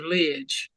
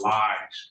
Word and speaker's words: Lies: No, Judge, I was asking to go into the breakout room with Mr. Lidge. Okay. It's Lies, but you can get the correct pronunciation and get it in there.